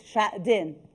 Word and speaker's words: Xuejing: I'm doing my own rehearsal to pronounce your name well. So it's Xuejing.